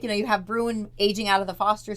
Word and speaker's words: Bruin: Is that how you say it, Bruin? Bruin and Destiny. Yeah, because Bruin is Brewen.